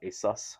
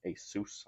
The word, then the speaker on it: ASUS: By the way, this is from Asus, not Asus, not Asus, Asus.